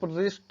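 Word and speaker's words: wrist: अधिकतर आपने देखा कि डब्लू के बाद अगर आर आता है तो डब्लू साइलेंट ही होता है, क्योंकि डब्लू जो है वो एक सेमी वॉवेल्स भी होता है।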